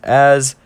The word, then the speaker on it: Az: And for anyone who wants to say it's not Az, it is Az. I searched it up. I'm a good boy today. I did search it up. So it's pronounced Az, and I can put